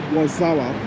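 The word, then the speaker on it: Warszawa: was like okay so that's actually how the Polish pronounce it and they call it wasawa so wazawa is literally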